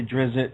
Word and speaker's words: Drizzt: never really clarify that sometimes I say Dritz other times I say Drizzt and the reason is